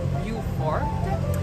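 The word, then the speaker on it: Beaufort: n son allé à Beaufor Caroline Sud donc on prononce vifort et puis ensuite de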